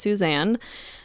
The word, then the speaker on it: Suzanne: love her for it so I call her Susan her her name is pronounced Suzanne so make sure you get that right when